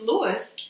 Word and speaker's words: Luis: It's Luis, but Hispanic might say Luis.